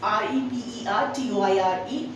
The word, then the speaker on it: repertoire: See, the word is REPERTOIRE, and the pronunciation is repertoire. How are you going to pronounce it? It is repertoire, ठीक है, which means a collection of skills, work that one can perform.